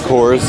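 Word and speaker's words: Kohr's: It is kind of confusing, but that's how it's pronounced, Coors.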